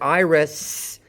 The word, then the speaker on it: Iris: Note that iris ends with an S sound, not a Z. Iris.